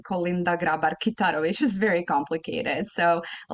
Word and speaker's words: Kolinda Grabar-Kitarović: So I was there with the Albanian ambassador, and my name, Kolinda Grabar-Kitarović, is very complicated. So a lot of people mispronounce it.